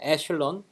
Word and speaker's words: echelon: think it's in French or something okay it's pronunciate it as an echelon form okay so the staircase kind of shape